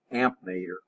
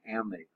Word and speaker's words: ammeter: Most people say amp meter, but technically it's an ammeter. If you look the way it's spelled, see the way it's spelled. But amp meter's okay. Nobody will correct you.